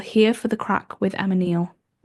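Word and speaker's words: craic: Like C R A I C. Like it's something Irish Irish people say a lot like, "Oh, we had a crack." like is a crack. Crack. They say it like that.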